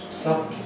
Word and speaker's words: suddenly: We keep the tongue in place, we can feel the tongue. We move the soft palate, which we can't feel. But you can perhaps hear it. My tongue is not moving, my soft palate moves.